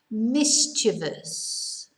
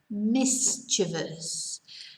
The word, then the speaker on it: mischievous: 10 mischievous this is a difficult word to pronounce mischievous mischievous and mischievous is like naughty you know we